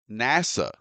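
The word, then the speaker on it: נסע: And first, notice that the Hebrew word translated as journeyed is the Hebrew word pronounced nasa.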